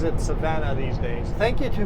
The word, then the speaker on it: Savona: spelled anything like how so it is everybody pronounces it Savannah these days thank you to whoever told me